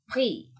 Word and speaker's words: prix: Contoh, ini bukan prix, tapi pri. Pernah dengar kata Grand Prix? Ya, oke. Pri, bukan prix. Ya, X-nya tidak berbunyi, ya, karena dia di akhir, maka ini berbunyi pri, pri, pri.